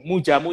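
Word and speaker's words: Moedjamoe: Mujamu ini spellingnya Mujamu. MOE.DJAMOE. Betul ya Bro ya? Ya, ejaan lama, Mujamu.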